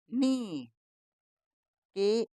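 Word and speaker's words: knock: हम इसको इसमें के की आवाज नहीं बोली जाती तो यह के नहीं बोलना तो एन डबल ई क्या बन गया नी के एन आई सी के ई आर एस निकर्स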